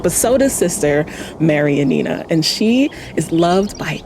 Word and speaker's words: Janina: And there is one nun, Sister Mary Janina. Sorry, I think it's pronounced Yanina.